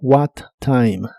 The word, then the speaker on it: what time: La E del final no se pronuncia, solo what time, what time.